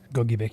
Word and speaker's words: Gogebic: And then we also have this cell here as an extreme northeastern Wisconsin, and will be entering Gogebic County. That's how you say it, right? Gogebic, yep.